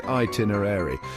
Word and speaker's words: itinerary: I've heard itinerary and even itinerary, but fear not, my friends, the correct pronunciation is itinerary.